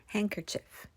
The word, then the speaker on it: handkerchief: 핸 some 핸 some지 되시네지지 핸드 cchf 아니고 handkerchief handkerchief 그랜드선 대신에 grand grand grand daughter 대신에